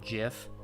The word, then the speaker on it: GIF: Yeah, Taz is like, is it GIF or GIF? It's GIF, by the way.